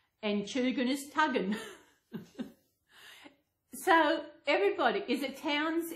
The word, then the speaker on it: Tugun: How they pronounce Coogin was Cudgeon, and Tugun is Tuggin.